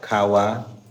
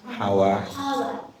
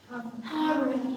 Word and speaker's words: Harvard: the top is now like Howard is the one, and also Ka- like to like Stanford, Howard. Howard, Harvard. Harvard University, Harvard. Harvard, man pronounce Harvard University, Harvard.